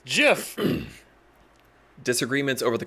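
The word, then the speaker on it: Giff: Half of them say it with a hard G, half with a soft G. That's annoying. It's GIF. No, it's GIF.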